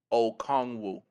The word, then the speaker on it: Okongwu: The pronunciation is Onyiku Okongwu.